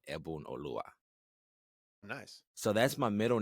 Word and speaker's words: Oluwa: Oluwa, yeah.